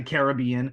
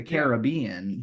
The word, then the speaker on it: Caribbean: Yeah, the Caribbean. Because, like, that's how they say it in the movie, is the Caribbean, but it is the Caribbean.